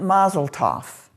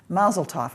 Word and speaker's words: Mazel Tov: I am pronouncing it Mazel Tov because that's the way I was taught. It's Yiddish. It's Yiddish. Mazel Tov. And I think that's the way you hear it spoken here in this country, Mazel Tov.